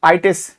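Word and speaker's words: -itis: ITES, ITIS इसको हिंदी में pronounce करते हैं, मतलब प्रोनाउंस किया जाता है आइटिस, आर्थराइटिस, हेपेटाइटिस, नेफ्राइटिस, कार्डाइटिस।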